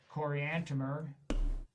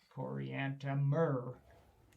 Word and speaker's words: Coriantumr: When they came to names, that you couldn't just say Coriantumr. You had to spell it out, because it can't be done by pronunciation. Even the most careful pronunciation will not get that one right. Coriantumr.